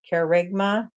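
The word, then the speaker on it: kerygma: this mythology they car it's spelled k r y g m a I'm going to pronounce it as carigma for short for that is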